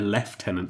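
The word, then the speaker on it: lieutenant: is interesting because we see a l a left tenant sorry IED the American saying then left tenant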